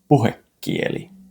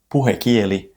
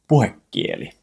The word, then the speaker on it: puhekieli: But when you write it, there's only one K. But when you listen carefully to native speakers, when they pronounce it, they will say something much closer to puhekieli with a double consonant, a double K. So for clarity, the spelling says puhekieli, but the correct pronunciation is puhekieli.